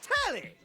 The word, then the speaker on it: Telly: The name's Telly rhymes with Nelly.